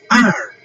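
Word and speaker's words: 二: Okay, E one, two is R and R is the fourth tone.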